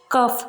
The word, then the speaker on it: cough: जैसे कफ, COUGH, यहाँ GH आया है लेकिन इसको हमने फा की तरह प्रोनाउंस किया है, कफ बोलेंगे इसको, ना कि कग।